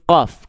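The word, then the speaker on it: ق: Huruf qof itu sama kayak huruf kaf, cuman beda dikit.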